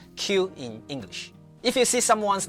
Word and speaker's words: qin: This in Chinese actually sounds similar to ch in English words like cheese or chocolate.